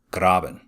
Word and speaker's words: Graben: faults on either side the word grab in itself is german for ditch so if you really want to play the part you can pronounce it graben the hanging wall drops